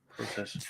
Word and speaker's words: process: notice some differences in Canadian versus American pronunciation of words like process Canadians pronounce with a long o process that's not 100% true